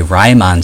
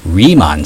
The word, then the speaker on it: Riemann: So last time we were able to find a Ryman sum. Oh wait, no it's not pronounced Ryman. It's pronounced remon sum.